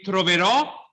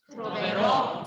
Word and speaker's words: troverò: ourselves, if we have a written accent in Italian, the accent of the long syllable of the word is on what syllable? The troverò. Good. So say for me, troverò. Troverò.